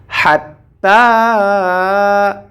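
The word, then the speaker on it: حتى: রটা সাকিন হয়ে যাবে হাত্তা হাত্তাতুমুল হাত্তা হা এটিকে আমরা কণ্ঠনালীর মাঝখান থেকে উচ্চারণ করব আমরা জানি কণ্ঠনালীর মাঝখান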